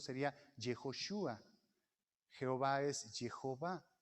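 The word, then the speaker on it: יהושע: a maría jesús que se pronuncia en el hebreo fonético para nosotros sería yehoshúa jehová ese hijo va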